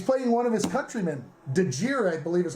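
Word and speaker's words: Djere: Dejir, I believe is how you pronounce his last name.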